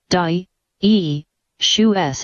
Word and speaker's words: dioecious: Dioecious, adjective, pronounced, di-e-shu-s.